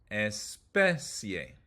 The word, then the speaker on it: especie: If the word ends in an ia, io, or ie, you emphasize the third to last syllable like this. Distancia. Principio. Especie.